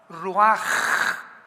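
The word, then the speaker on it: רוח: la palabra como suena r u a c h ruach que es la palabra hebrea que significa espíritu y se pronuncia la ch en el hebreo como j ruaj como J ro el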